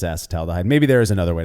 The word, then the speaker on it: acetaldehyde: I mean, I've heard it's acetaldehyde, of course, and not acetaldehyde or acetaldehyde. My understanding, at least, is that it's acetaldehyde.